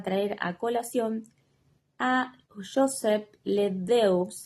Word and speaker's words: LeDoux: a colación a Joseph LeDoux, LeDoux, creo que se pronuncia, apellido francés, pero él era estadounidense,